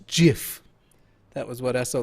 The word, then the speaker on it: GIF: two dollars and wrote remindkyle.gif is pronounced dot jiff that was what i